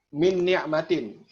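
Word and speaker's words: مِنْ نِعْمَةٍ: Contoh dalam kalimat min ni'matin. Ya, min ni'matin. Ni'matin nunnya ada tasdid. Min ni'matin. Jadi kita langsung bersiap kepada huruf nun yang kedua. Tidak lagi mengucapkan nun yang pertama. Langsung bersiap min ni'matin, min ni'matin, ya enggak dua nun lah, min gitu ya.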